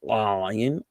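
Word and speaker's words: עין: The ayin is a guttural letter, ayin, ayin.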